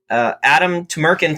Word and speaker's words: Adem Tumerkan: Adem Tumerkans, thank you for joining me.